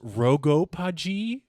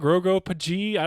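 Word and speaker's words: RoGoPaG: have you seen and I think it's pronounced rogo paji Roo POG he's like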